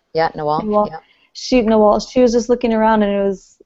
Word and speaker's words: Nawal: of the first times, and Nawal, am I pronouncing her name right? Yeah, Nawal.